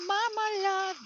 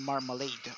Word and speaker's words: marmalade: But when I listen to the song, the Lady Marmalade, and then that's where I realize, so it's the last A is pronounced as and then E is not pronounced in marmalade or marmalade.